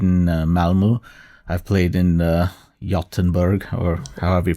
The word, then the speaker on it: Göteborg: I've played in Gothenburg, or however you pronounce it. That's perfect. Spot on. Göteborg.